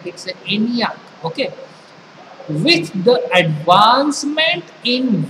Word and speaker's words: ENIAC: ये शॉर्टकट्स है इसका प्रोनाउंसिएशन एग्जैक्टली नहीं हो सकता है या हम कर सकते हैं इट्स एनियाक okay With the advancement in various stages of